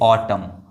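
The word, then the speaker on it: autumn: एन जो है वो साइलेंट हो गया। जैसे कि इसको पढ़ेंगे ऑटम। ऑटम इसको ऑटमन नहीं पढ़ेंगे या फिर ऑटम्स नहीं ऐसे कुछ नहीं पढ़ेंगे।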